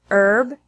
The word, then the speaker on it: herb: who whose and whole there are also some words that have a silent H in English such as our honor honest herb ere the H sound is